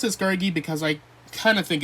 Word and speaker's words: Scraggy: Uh, Piplup, Scurgey, or Scraggy, more accurately. I call him Scurge. I pronounce it Scurgey because I kind of think it's fun like that.